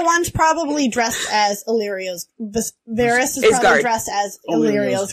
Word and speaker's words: Varys: It's Varys. Varys.